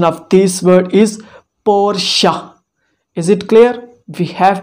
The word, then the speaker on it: Porsche: this company we have to know how to pronounce it is it powersheet no the right is porsha the right pronunciation of this word is porsha is it clear we have to call it